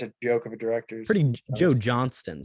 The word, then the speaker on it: Johnston: Joe Johnston. Sorry, yeah, said his name wrong.